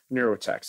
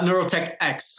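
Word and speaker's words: NeuroTechX: more about the organization you founded it's uh neurotek am I pronouncing that right uh neurotech X Okay so neurotech X is a non-for-profit organization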